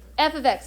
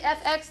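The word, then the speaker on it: f(x): a lot of those how do you say that does anyone know how to say that f of x fabulous yes f of x so don't say f x don't say f times x it's f of x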